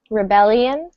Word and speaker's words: rebellion: Rebellion. Rebellion. Rebellion. Good. Yep. So stress falls on that second syllable.